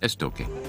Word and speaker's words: Estoque: And Estoque, written Estoc with a Q, but pronounced Estoque.